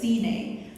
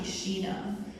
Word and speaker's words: Sheena: And the correct pronunciation, so 11 Labs says Cine, but the correct pronunciation is actually Sheena.